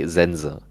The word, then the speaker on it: Sense: We have Zen auf Japanisch Zenze, but I guess auf Deutsch wie sagt You would just pronounce the E, the second E less, you'd say Zenza.